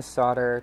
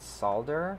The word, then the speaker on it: solder: focus here okay so i'm just going to solder two wires together to show you how it works i've heard people pronounce it solder because that's how it's spelled but i think